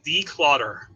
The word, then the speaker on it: DCLUTTR: Declutter. I believe it's DCLUTTR. It's not the way you spell it.